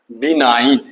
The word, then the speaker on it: benign: देखिए इसका उच्चारण क्या है? बम दीर्घी का नो आकार ई नो, यानी लेटर बी के बाद 9 लिख दीजिए, NINE, यानी 9 डिजिट लिख दीजिए, वही उच्चारण इसका है।